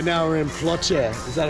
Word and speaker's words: Ploče: Right now we're in Ploče. Is that how you say it? Yeah. Ploče.